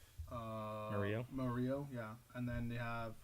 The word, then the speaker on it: Murillo: Yeah, after he's mixed in with failed Thomas, Premier League for a couple of years, but and then Muriel, how do you say his name? Murillo, yeah, and then they have Cuadrado, sorry, and then the guy from Brighton.